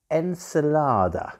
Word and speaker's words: Encelade: or barosh and it's called encelada not enchilada we're not talking about spanish mexican food we're talking